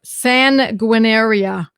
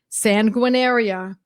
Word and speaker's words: Sanguinaria: It is phonetic. It's exactly how it looks.